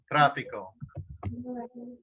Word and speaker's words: tráfico: However, look at the stress. It's just fold on the last syllable. Huh? Oh, no, next to last syllable. Next to last. Right, it should be on fee, so what do we have to do then? We have to add an accent.